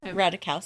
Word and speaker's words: Ratajkowski: Brad Pitt being with Emily how do you pronounce her name? Ratajkowski.